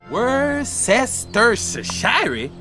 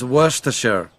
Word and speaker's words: Worcestershire: The name only has 3 syllables. In the UK, the sauce is also commonly referred to as Worcester sauce, so you could even shorten it down to 2 syllables. Worcestershire? Now that sounds fancy. It's Worcestershire. Paczki are Polish-filled donuts made